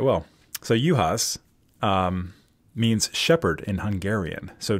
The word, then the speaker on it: Juhasz: that, is it pronounced Juhasz? Yeah, Juhasz. Knock off the J, knock off the Z. All right. Well, so Juhasz means shepherd in Hungarian.